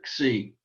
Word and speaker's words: xi: Sometimes we put a little X sound on the beginning just to pronounce it either xi, but it's just really xi.